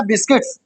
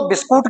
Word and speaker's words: बिस्किट: तो मैं लाया क्या बिस्किट बिस्किट सुनो बिस्कुट कहते हो ना बिस्कुट व बिस्कुट नहीं होता व बिस्किट होता है क्या होता है वो बिस्किट ना बिस्कुट ठीक है याद रखना